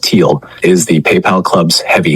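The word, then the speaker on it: Thiel: Peter Theal, pronounced Teal, is the PayPal club's heavy hitter.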